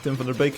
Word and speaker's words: Tim van der Beek: Tim van der Beek, if you pronounce his name in Dutch.